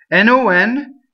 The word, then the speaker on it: non: N-O-N is closed non, right? The word no, N-O in Italian, is open, no. So non, no.